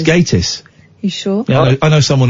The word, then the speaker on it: Gatiss: say his name right Mark gatis is it gatis or gtis it's gatis you sure I know